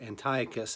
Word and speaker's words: Antiochus: book of the Maccabees, is that Antiochus, or Antiochus as he's called in his Greek-sounding pronunciation, forbids the Jewish people from practicing Judaism.